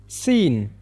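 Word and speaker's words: scene: ಅತಿಥಿ ಅತಿಥಿಗಳು ಅಂತನು ಕರೆಯುತ್ತೇವೆ ಸೀನ್ ಸೀನ್ ಅಂತ ಹೇಳಿದ್ರೆ ದೃಶ್ಯ ಅಂತ ಅರ್ಥ ಸೀನ್ ಅಂದ್ರೆ ದೃಶ್ಯ ಅಂತ ಹೇಳಿ ಇದರಲ್ಲಿ ಸಿ ಸೈಲೆಂಟ್ ಆಗುತ್ತೆ ಇದನ್ನ ನಾವು ಸೀನ್ ಅಂತ ಮಾತ್ರ ಪ್ರೊನೌನ್ಸ್ ಮಾಡಬೇಕು ಬ್ರಿಡ್ಜ್ ಬ್ರಿಡ್ಜ್ನಲ್ಲ ದೀರ್ ಸೈಲೆಂಟ್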